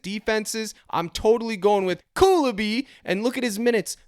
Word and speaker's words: Koulibaly: Okay, I know it's Koulibaly, but let's just call him Cooley.